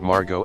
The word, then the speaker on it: Margot: there's a story about margot asquith a british socialite and author meeting jean harlow and correcting harlow's mispronunciation of her first name no no the t is silent as in harlow chelsea